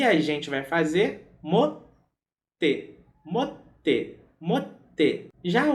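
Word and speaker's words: 持って: Já o verbo ter ou possuir, no sentido de segurar alguma coisa também, se pronuncia motsu. Motsu. E a gente vai fazer mote, mote, mote.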